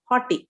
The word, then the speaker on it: haughty: before destruction the heart of a man is hotty correct am i pronouncing it right yes hot leaf and before horner is humility